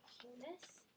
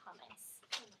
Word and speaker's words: humus: learned about today that some people were pronouncing it hummus hum hum hum and what does the hum do humus hum does what PL